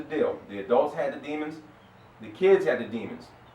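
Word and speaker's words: daemon: a demon you know in the English way they spell it is D AE m o n but demon right but what the demon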